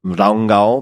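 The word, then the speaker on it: Rangá: this place called hotel I think they pronounce it Rango but it's ranga r a n g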